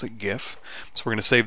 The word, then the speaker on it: GIF: save it as a gif and yes i pronounce it gif so we're going to save this one as